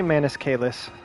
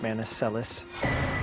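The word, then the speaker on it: Manus Celes: the Cathedral of maniscus I say manuscalis uh but I know it can also be pronounced manicellis I think I want to say but I could be wrong that it's the difference between like classical and ecclesiastical uh I prefer the sound of kalis I believe that's supposed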